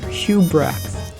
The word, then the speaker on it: Hubrecht: Okay, who, how do I pronounce this? Hubrecht. Alright, so it's pronounced Hubrecht.